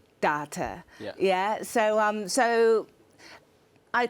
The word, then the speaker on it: Dawta: okay so it's called data yeah so um it's it's the jamaican pronunciation of daughter so it was a